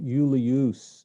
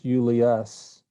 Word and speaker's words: Julius: I think that uh second you in Julius is a short you not a long u yes this is not everybody everybody's been saying Yuli use it's not you it's Julius yeah it's uh yeah